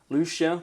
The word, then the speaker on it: Lucia: So Saint Lucy, or Lucia, depending on how you want to pronounce it, December the 13th, and an encouragement